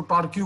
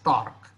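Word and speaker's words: torque: medium के students यानी मैं पहले इसको टॉर्क क्यू बोलता था अरे क्यू यू ई क्यू तो उसको टॉर्क क्यू तो ऐसा नहीं बोलना है इसे this is having its pronunciation as टॉर्क इट is basically are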